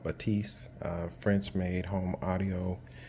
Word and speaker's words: Bathys: focal batif batis um some people call it bathys but it's called Batiste uh French made home audio and um that's